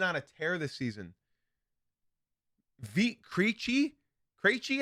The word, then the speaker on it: Krejci: Krejci, I think is how you pronounce it.